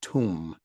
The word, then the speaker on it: tomb: twoness in the word tomb but let me ask you another question do you pronounce it no well what's up with the B why is it even